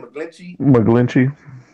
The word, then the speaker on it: McGlinchey: But McGinch, how you say his name? McGlinchey.